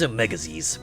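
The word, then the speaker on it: Omega-Xis: Am I pronouncing that right? Or is it Zeiss? Omega Omegas. Omega Ziz. I'm going to say Omega Ziz. The name's Omegas, but humans get it all wrong, so just call me Mega.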